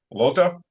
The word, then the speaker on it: Lottaz: Today with us back is our friend Lottaz. I was corrected. The Z is silent from neutrality studies.